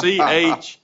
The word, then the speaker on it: Chiron: It's Chiron. It's almost like Chevron, but it's different, and it's Chiron.